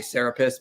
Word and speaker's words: Serapis: See a video I did called Jesus versus Serapis, where I keep mispronouncing his name, say Serapis, because that's what I was taught. And then I was later said it's Serapis.